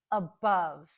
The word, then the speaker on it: above: first one is above the stress is on the second syllable so that's where we hear the short u which is represented by an o in this case above above the first syllable is unstressed so that is our schwas sound in this case it's an a above above do you